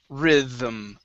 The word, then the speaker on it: rhythm: word rhythm right here this word is rhythm rhythm rhythm okay right now rhythm yeah there you go that's the th sound one more time rhythm